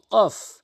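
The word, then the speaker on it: ق: আসুন মারাত্মক লেভেলের ভুলগুলোর মধ্যে আরেকটি হরফ হচ্ছে কফ অধিকাংশ সূরা এখলাস সূরা নাস সূরা ফালাক ওখানে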